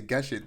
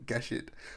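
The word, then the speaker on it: Gesicht: I was going to say Geshit, but for some reason I said gay shit. But anyway, Pluto reinterprets that Astro Boy arc as a suspenseful murder mystery starring Geshit, a Europol robot detective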